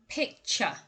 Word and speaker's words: picture: word number six is picture picture now i think what makes this word particularly difficult is the affricate sound in the middle there the ch sound picture i have always